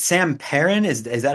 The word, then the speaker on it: Perin: So, it's Sam Parin. Is is that how you pronounce it?